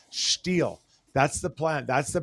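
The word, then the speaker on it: Stihl: leaf blowers but um you're mispronouncing it's steel it's not steel it's steel Ste I I double checked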